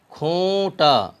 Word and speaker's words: کھونٹا: کو پڑھتے ہیں معروف۔ کھے واو پیش کھو نون غنہ ٹے الف زبر ٹا، کھونٹا۔ پہنچا، یہاں بھی بچے